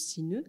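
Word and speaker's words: 死ぬ: en japonais on dit Sineu donc ça se prononce Sineu mais en fait le mot Sineu vient de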